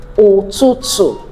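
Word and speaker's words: ụtụtụ: That's pronounced, there's no English equivalent, so it's pronounced as O, O, O, O. So we have it in Igbo words like Otutu, Otutu, morning, Otutu, morning.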